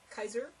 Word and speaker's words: Kaiser: We might note that Kaiser rhymes with Caesar.